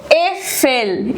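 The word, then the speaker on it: Äpfel: ए उमलाउट जो होता है it's like E, ई, ई इन बेड। जैसे ई बोलते हैं हम इसको एफेल।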